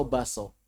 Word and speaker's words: bakso: Pertanyaan, mana ucapan yang benar? Bakso atau baso? Baso.